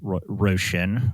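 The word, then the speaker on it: Róisín: Roshan. I think that's how you pronounce it.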